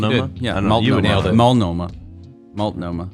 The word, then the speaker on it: Multnomah: Multnomah. No, this is not the South. You say all the letters in this one.